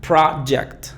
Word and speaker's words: project: Después tenemos acá project, project. Muchas veces los hablantes nativos no pronuncian la T al final, pero siempre debe de estar.